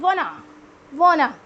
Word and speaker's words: want to: First one is want to. How you will pronounce want to? Want to we will pronounce just like wanna.